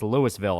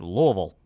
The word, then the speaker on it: Louisville: angry when people pronounce Louisville wrong it is always hilarious when someone tries to correct me and go like oh it's not Louisville it's Lewisville and I'm like what the [ __